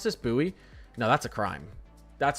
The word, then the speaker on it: Bowie: Oh, it's that they pronounce this buoy. No, that's a crime. That's a crime. B O W I E is pronounced buoy.